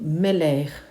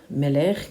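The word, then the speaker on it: מלך: Par contre, elle a un son qui ressemble plutôt au R, comme dans le mot Meler, Meler qui veut dire le roi.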